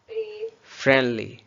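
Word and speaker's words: friendly: फ्रेंडली. Mostly जब एन के बाद डी आता हो तो उस रूल में आ जाता है जिसमें हम डी को साइलेंट करते हैं. सो लफ्ज़ है फ्रेंडली.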